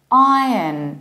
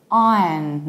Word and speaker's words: Iron: We open our mouth very much, R, then we have yacht, then there is no R, and we reduce the ending.